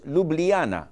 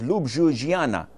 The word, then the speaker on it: Ljubljana: Slovenia, their capital was Ljubljana. When I read it, it was Ljubljana. And I was wondering where did the J go? So in some countries, the J is pronounced as I.